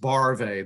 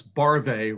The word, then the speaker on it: Barve: And before I recognize Lori Melman, some of you don't know, my last name is pronounced Barve. That's Barve, rhymes with Oive.